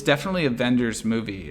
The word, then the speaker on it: Wenders: Now, it's definitely a Wenders movie. Is it how you say it? Wenders? I think it's a V sound.